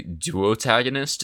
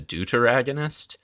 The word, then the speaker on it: deuteragonist: I keep wanting to say duotagonist instead of deuteragonist, and I'm not like 100% certain on that pronunciation.